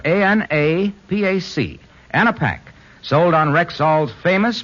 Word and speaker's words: Anapac: Rexall Anapac relieves a cold at any stage, from the first warning sneeze to the headache, muscular pains, and fever of a full-fledged cold.